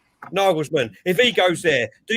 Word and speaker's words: Nagelsmann: Nagahel? How do you pronounce his name? Nagelsmann.